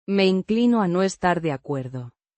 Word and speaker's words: inclino: Pronounced een-klee-noh. with a soft En. sound and a slight stress on the second syllable.